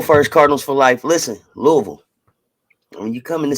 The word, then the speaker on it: Louisville: It's spelled Louisville.